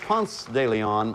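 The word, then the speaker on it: Ponce de León: want to block question what if is where panther de leon looked for the jack florida fountain of youth florida is right it's it's pronounced punts daily on i said punk because i had something in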